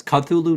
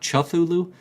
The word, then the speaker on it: Cthulhu: what is it cuthulu it's cut thulu not chuffulu i i think i've